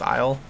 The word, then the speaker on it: Isle: Oh yeah, so I looked it up and it is pronounced Isle. So I was saying it right the first couple times.